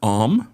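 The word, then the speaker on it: עם: Biblical Hebrew we have the word om which is spelled am you would read it like M and that's what we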